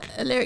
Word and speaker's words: Alaric: Alaric.